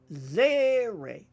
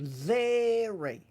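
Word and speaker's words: צֵירֵי: Zeri, often represented with like an EY sound. Zeri.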